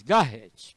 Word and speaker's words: Garrett: Mas vamos pronunciar mesmo em português, Garrett.